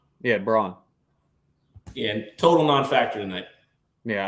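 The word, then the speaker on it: Christian Braun: be a great was it how do you pronounce his name is it braun or brown christian brawn yeah braun yeah total non-factor tonight yeah i bet that's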